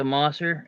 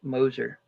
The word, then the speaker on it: Moser: say it you said moer Moser moer Moser Mo you know like hoser or poser okay there now I